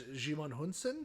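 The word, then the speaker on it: Djimon Hounsou: I'm not even going to try to pronounce his name because I don't know. Jimon. I believe it's Jimon Hunsen.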